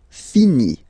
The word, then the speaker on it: finit: Il, elle finit. So I-T, final T not pronounced.